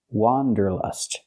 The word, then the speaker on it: wanderlust: just a few years the word is not pronounced wonderlust it's pronounced wonderlust let's look at the difference the correct pronunciation of this word has the sound a like hot and stop it's an open Sound W Wanderlust for the first vowel for the first syllable use the open a sound like hot and